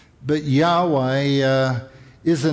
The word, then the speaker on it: Yahweh: What we now believe is that the pronunciation was Yahweh.